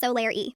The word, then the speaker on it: Solareigh: Pronounced Solaire.